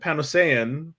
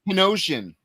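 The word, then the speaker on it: Panosian: Nope. Nope. I learned how to say this because of triple B. It's Penosian. Okay. Dan Ponosian. Sorry, I was I was really putting the A in on it.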